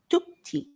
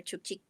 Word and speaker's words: Chukchi: So it doesn't sound like we in Spanish with the CH, like chuchu, Yeah. cha-cha, muchacha, chacho, Yes. chica. It's different. Pretty It's cool.